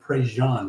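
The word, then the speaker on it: Prejean: So, it's spelled Pre Gene, but he's a Cajun man, so they pronounce that Prejan.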